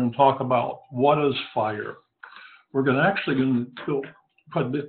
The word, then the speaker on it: FHIR: or Health interoperable Resources as common known as fire and pronounced fire it's the Next Generation